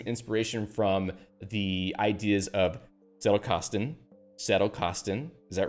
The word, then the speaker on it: Zettelkasten: The Z is more like TS. I'm trying to say it like that. Zettelkasten, right?